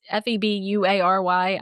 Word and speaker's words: February: It's Febuary. I know it's spelled weird.